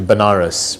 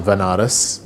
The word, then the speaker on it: Banaras: ended up going to Banaras which is a place in in India sometimes pronounces veneris which is a place